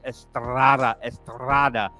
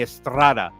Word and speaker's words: Estrada: And we got Anthony, and you got to roll your R's, folks. Estrada. Actually, it's a short roll. He's not like a double R, like a burrito. It's Anthony Estrada.